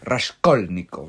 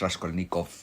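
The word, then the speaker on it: Raskolnikov: Porque bueno, yo sí aprendí que es Rasholnikov, no es Rashkonnikov, es Rasholnikov.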